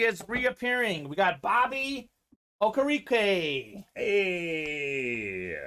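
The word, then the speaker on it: Okereke: reappearing we got bobby okarique hey i think it's pronounced like okay rocky but i know we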